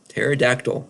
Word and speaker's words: pterodactyl: to the bathroom well because the p is silent their p is silent pterodactyl right you don't say